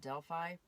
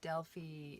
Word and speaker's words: Delphi: Most people call it Delphi, but Delphi is how it's said in Greece.